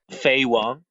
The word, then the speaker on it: Faye Wong: And then we have Faye Wong, if I pronounce that at all correctly. Faye Wong.